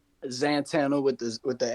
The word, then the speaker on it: Xantana: Is Zantana or Santana? Zantana with the with the X.